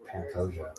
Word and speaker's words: Pantoja: Is that how you say his name? No. What is it? It's Pantoja. Pantoja versus...